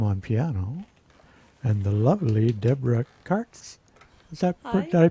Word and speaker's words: Deborah Kartz: Peter Tam on piano and the lovely Deborah Kartz. Hi. Did I pronounce that? You pronounced it correctly. Deborah Kartz, yeah.